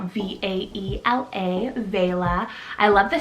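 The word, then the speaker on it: Vaela: meaning princess next i have vela spelt v-a-e-l-a vela i love the spelling of this one it's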